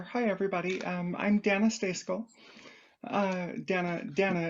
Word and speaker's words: Dana: Dana is how it's pronounced.